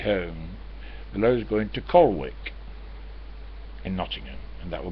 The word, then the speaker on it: Colwick: below is going to colwick in nottingham and that will get i said jackie i don't know what time i told you it might be spelt colwick but it's pronounced colic she says yeah i